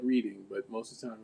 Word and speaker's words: Reading: here she's my city what do you say reading yes yeah that's like like you i mean of course it looks also like reading but most of the time like if you